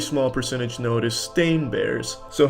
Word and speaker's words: Berenstain: Everyone every everyone every they all want to pronounce it Steen but it's Stain. Ever since I was a kid, they call me Steen and it's Stain though.